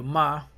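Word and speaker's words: מ: Okay, the next Hebrew character is the ma, and its numerical value is 40.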